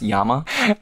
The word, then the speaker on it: llama: It's pronounced Yama.